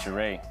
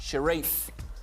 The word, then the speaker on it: Sharif: Cherie. Wrong. Still open. Who don't like it? Pierre. Sharia. Renee, Lucy, would you like to pronounce it correctly? Time's up. Sharif.